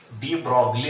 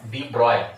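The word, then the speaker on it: de Broglie: त्याचं प्रोनाउन्सिएशन कसं करा, डी ब्रॉय असं करा असं त्यांनी सांगितलं. ठीक आहे, डी ब्रॉगली म्हणा, डी ब्रॉय म्हणा, स्पेलिंग असले.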